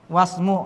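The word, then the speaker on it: اسم: Boleh wa ismu boleh atau apa? Was wasmu langsung karena ini hamzel wasal boleh tidak dibaca apabila dia bersambung dengan kata yang sebelumnya wasmul dibacanya ya paham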